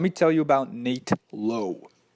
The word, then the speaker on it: Lowe: But let me tell you about Nate Lowe. No, not Brandon Lau, his ex-Rays teammate with the same last name pronounced differently.